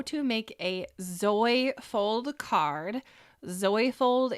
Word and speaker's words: Zoyfold: Zoyfold is spelled Z-O-Y for Zoe. Zoyfold, and there's a reason for that.